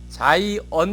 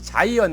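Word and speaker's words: Zion: 이라는 이야기가 안 나오고 시원 대신에 영업 발음인 자이언 이라고 얘기한 시온을 영어로는 자이언 이라고 얘기합니다 그래서 되게 돌아가셔서 그 유통으로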